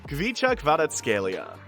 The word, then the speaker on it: Kvicha Kvaratskhelia: Well, we are talking about Napoli's discovery, Kvicha Kvaratskhelia. And yes, I can pronounce his name right.